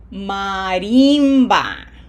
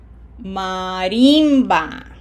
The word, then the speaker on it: marimba: Remember, we have to smile for the I, so we don't pronounce this word like we do in English. Marimba. Marimba.